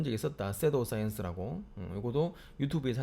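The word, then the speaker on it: pseudoscience: 섀도우 사이언스라고. 요거도 유튜브에서 한 적이 있었으니까 나중에 그 부분 좀 찾아줄게. 이 의사과학, 그러니까 의사들이 하는 과학이 아니고 의사과학. P는 묵음이기 때문에 섀도우 사이언스라고 해. 이거 알아두면 되게 편해.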